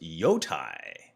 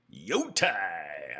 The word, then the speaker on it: Jotai: Actually, Jotai should be pronounced Yotai. Yotai.